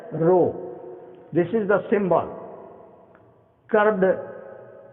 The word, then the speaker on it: rho: Rho, we pronounce it as rho.